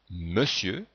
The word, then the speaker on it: Monsieur: pas la lettre E dans Monsieur on entend bien le son e mais on écrit o n dans le verbe faire